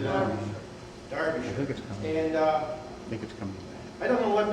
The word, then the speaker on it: Derbyshire: Derbyshire.